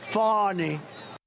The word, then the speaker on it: Fani: It's spelled Fanny like your ass, right, Fanny? But when she became DA, she decided to add a little French, a little fancy. Fani.